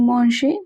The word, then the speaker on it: mangez: Vous mangez means you are eating. What are you eating? EZ at the end of a verb is always pronounced as A.